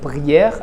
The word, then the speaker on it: prière: Maintenant, avec prière, la dernière syllabe qui se termine avec un E muet, eh bien, E que vous trouvez dans prière se prononce comme s'il y avait un accent grave.